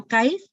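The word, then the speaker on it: Kythe: Services is guide so Kai is derived from a Scottish word it means to make known or to manifest and we manifest our love for the children through simple sharing and togetherness rhymes with kite because we uplift and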